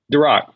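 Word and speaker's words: Derakh: in grooves in Amir how do you say his last name Durock Durock yeah okay I said the Rock and what he means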